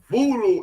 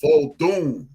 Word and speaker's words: Vodun: Voodoo is a mispronunciation of that craft. It's called Vodun.